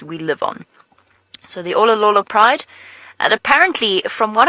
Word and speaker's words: Olololo: guess about them being or belonging to the Olololo pride. And in case you're wondering how to spell that, hold on 1 second, let me just think about it.